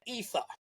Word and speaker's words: E7HER: Ether. It is spelled E7HER, but makes a point on the profile to say it is pronounced Ether.